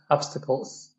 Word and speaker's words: obstacles: yeah and yeah obstacles i don't think you um pronounce the s obstacles obstacles obstacles yep yeah but i